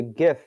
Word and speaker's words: GIF: deaths uh stephen willett the creator of the gif has passed away i guess the jiff because that's how he likes to pronounce it so honestly this is gonna i